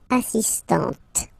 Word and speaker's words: assistante: But for the feminine form, elle est assistante.